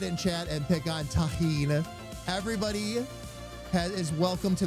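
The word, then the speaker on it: Tajín: Taheen. That's how it's pronounced. The J is an H sound.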